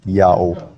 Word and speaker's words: IAHO: Now the Latin letter H at the time of Jerome is an H sound if it's the first letter of a word, but if it's not, it's a silent letter. And Latin adopted that rule from ancient Hebrew, so IAHO is read clearly as Yao.